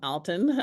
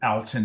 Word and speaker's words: Alton: So welcome, Alton.